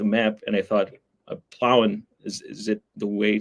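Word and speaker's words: Plauen: I uh to say because you you pronounce it a little bit different plowing plowing by sock yeah exactly so I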